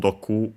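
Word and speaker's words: 毒: Doku actually should be on its own Doku, if I recall correctly. We've seen it in this series, Poison. And the accent on the last mora on its own.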